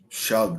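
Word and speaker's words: Shough: Shug. That's right. Yeah. It's like weird. You're a huge fan of Zach. I I like me some Tyler Shug.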